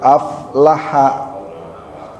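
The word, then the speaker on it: أفلح: Huruf fa bukan huruf qalqalah. Jadi tidak mantul af af bukan af tapi aflaha qod aflaha man tazakka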